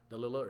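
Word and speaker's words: Dalilah: I think they don't pronounce it Delilah, it's Dalila or something like that.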